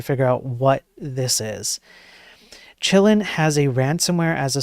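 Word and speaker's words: Qilin: Usually, if it's Chinese, then you you sometimes you pronounce the Q as a ch. Uh, so chillin. I like to call it chillin.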